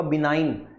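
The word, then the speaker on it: benign: pronunciation इसका क्या होगा बिनाइन जी इसमें साइलेंट रहेगा ठीक है तो बिनाइन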